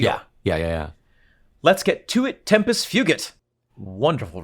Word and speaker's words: tempus fugit: Ian pronounces Latin in the Vulgate, and I'm very happy. Oh, I'm sorry. Tempus wugit. No, but most people say tempus fugit. But with my pronunciation, it would be fugit.